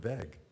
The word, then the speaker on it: VEG: First, Why don't you call them veg? that's a good question. I feel like veg. But it's not a soft G anyway.